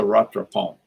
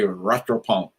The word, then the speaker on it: rattrapant: Okay, that's a rattrapant. That's one thing I think I can actually pronounce correctly. Everybody say rattrapant.